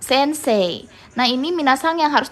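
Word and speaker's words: 先生: Indonesia oleh orang asing Terutama ketika menyebutkan Sensei itu bukan Sensei gitu ya pakai Y bukan Sensei atau Sensei bacanya tapi lebih kayak huruf E tapi ditarik gitu jadi kayak Sensei gitu ya minaha bisa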